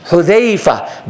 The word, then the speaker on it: Hudhayfa: Pronounce Sahaba's name correctly. Not a Za, but a Dhal. Sahaba's names. Hudhayfa bin Mihsan, radiyallahu anhu.